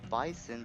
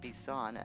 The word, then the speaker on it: Bison: it's should be called bison but is actually is pronounced ban as if he's French something I didn't know